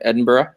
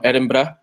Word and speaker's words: Edinburgh: We're going to be in London, and we're going to be in Edinburgh. No, Edinburgh. Did I say it right this time? Edinburgh.